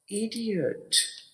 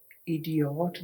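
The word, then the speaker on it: idiot: में इ डी अट इडियट यहां पे आपने ओ की आवाज आ की आवास में प्रोनाउंस करनी है यहां प ओ नहीं पढ़ना इडिट नहीं कहना इडिट गलत हो जाएगा ये है इडियट बेवकूफ आपने आई डी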